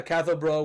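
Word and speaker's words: Cathal Brugha: anti-treaty leader catho buag so his name was bruh it wasn't buag buuga is obviously Simon's English pronunciation of it uh cath bro was actually a political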